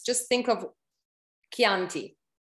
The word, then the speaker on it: Chianti: pronounce just think of chianti if it were not for h it would be chanti yeah okay so it